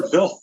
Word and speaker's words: Hvidt: It's actually pronounced Vilf. Peter Vilf.